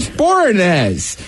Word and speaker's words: Boreanaz: So does David Boreanaz, who obviously was on the first show.